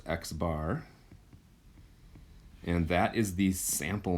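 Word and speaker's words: x̄: means okay we have this symbol which is pronounced x bar and that is the sample mean okay um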